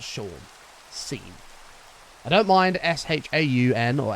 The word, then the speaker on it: Sean: Same as Sean. If your name's spelled S-E-A-N, that's Scene. It's not Sean. Scene.